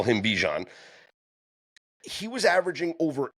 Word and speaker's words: Bijan: Okay, so my correct pronunciation is Bijan. That's over with now. We can call him Bijan.